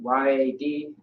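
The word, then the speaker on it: יד: So Y-A-D. Yeah. Yad or yad is how you pronounce it, which means hand.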